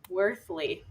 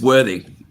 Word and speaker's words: Worthy: Worthly. No L. It's worthy. Earthy with a W.